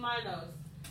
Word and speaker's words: Minos: They always pronounce the I. So King Minos.